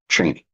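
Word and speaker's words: Chani: she plays the character Cheney CH h n i Frank Herbert you can hear his voice saying Cheney Cheney CH hard a c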